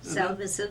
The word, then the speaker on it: Salvesen: And today we have the honor and the privilege of interviewing Miss Salvesen. Did I pronounce that correctly? Salvesen, yes.